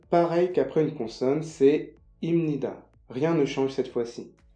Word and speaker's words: 입니다: de prononciation du coréen, cette lettre, quand elle est placée avant cette lettre-là, elle se prononce comme ça. C'est pour ça qu'on prononce bien 입니다, mais ça s'écrit comme ça.